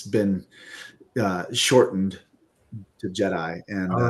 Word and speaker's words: Jedi: name, but I've confirmed it's Jedi, just like Return of the Jedi, I assume, and that kind of thing.